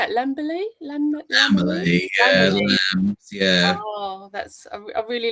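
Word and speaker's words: Lambily: Lamberley, yeah.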